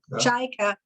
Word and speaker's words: Cajka: Cajka? Cajka.